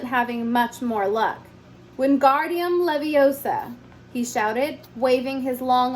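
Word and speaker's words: Wingardium Leviosa: heard her miny snap it's guardium Leviosa not Leviosa make the gar nice and long you do it then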